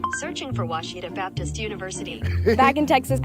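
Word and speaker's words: Ouachita: Uh, I've heard people say, "Oh, O Wita." Oh, Aita. Is it pronounced Oita? Searching for Washita Baptist University.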